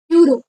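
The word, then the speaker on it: euro: घेऊ त्याने तुम्हाला कळेल युरो युरोच स्पेलिंग ई पासून स्टार्ट जरी होत असलं तरी त्याच्या समोर ए लागतो कारण त्याचा प्रोनाउन्सिएशन यु पासून स्टार्ट होत युनिफॉर्म युनिफॉर्मच तर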